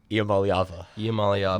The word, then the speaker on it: Iamaleava: And how do you pronounce his last name again? Sorry? Iamaleava.